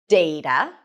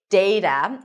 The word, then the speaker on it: data: You can either pronounce it as data with the a as in day data.